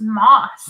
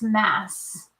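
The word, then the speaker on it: Mauss: Is your name pronounced Moss or Mass? It's Moss. Moss. I know everybody thinks it's Mass, or they think we spelled it wrong.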